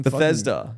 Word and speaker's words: Bethesda: Bethlehem Studios? Or is it going to be like some Bethesda. Yeah, that sounds more right.